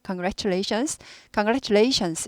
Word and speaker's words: congratulations: 그래서 이제 그가 들리락말락하게 합니다. 그래서 꼭 congratulation이라기보다 congratulation 그가 들리락말락 congratulations 이런 식으로 그가 들리락말락해요. MP3 듣고 계시는 분들은 원어민 발음에서 그가 들리나 안 들리나 확실히 한번 확인해 보세요. 그래서 들리락말락하고 지나갑니다. 아예 안 들리는 것도 아니고. 그리고 S는 꼭 발음합니다. 그래서 congratulations 이렇게 됩니다.